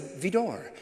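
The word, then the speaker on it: Widor: Well, I was impressed that he knew to say Vidor when it's spelled W-I-D-O-R, that he said Vidor.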